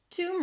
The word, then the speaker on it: tomb: -Okay, guys English pronunciation and spelling do not correspond. So Tomb Raider. Let's talk about this word. Tomb. We begin with a T sound and then it's the /uw/ as in food. /tuw/ - /tuw/.